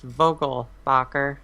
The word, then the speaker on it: Vogelbacher: say first off that my last name is pronounced Vogal Bacher and it's a everybody gets it wrong so it's okay Vogal